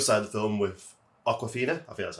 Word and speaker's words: Awkwafina: Then we have the other side of the film with Awkwafina. I think that's how you pronounce it. Awkwafina, yes.